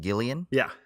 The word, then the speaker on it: Gillian: It's kind of Gillian spelled with a G, like Jillian, but Gillian.